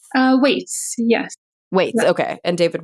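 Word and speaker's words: Weitz: with Michael brener and David whites is it pronounced whites uh Whits yes Whits okay and David whites um you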